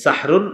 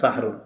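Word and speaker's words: سَحْرٌ: সাহারি কি খাওয়া সাহারি এই সাহরুন এটা সুন্দর ভাবে উচ্চারণ হবে হ্যাঁ সাহরুন সিন হা জবর সাহ র দুই পেশ রুন সাহরুন এটা হলো আমরা ওই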